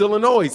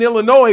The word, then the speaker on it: Illinois: Vasquez says people outside Illinois say Illinois it's Illinois in Illinois we know it's Illinois you don't pronounce that ass it's Illinois anyway go ahead